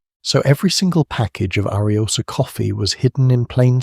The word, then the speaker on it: Ariosa: Ariosa, pronounced exactly as it looks, Arios.